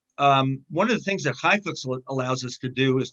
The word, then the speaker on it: ChaiFlicks: By the way, I just want to say Highflix is spelled ChaiFlicks.